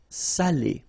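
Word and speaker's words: salé: But in that case here okay you put the accent and it's quite important because in that case it means salted okay sal okay and then same thing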